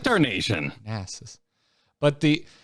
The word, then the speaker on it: Darnassus: Darnassus. But the The emphasis in Darnassus is on the second syllable, so I put the emphasis on the second syllable when I say Darnasian.